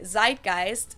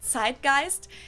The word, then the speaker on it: zeitgeist: other languages too to Americans usually say zeitgeist and German we pronounce it side Geist and this consists of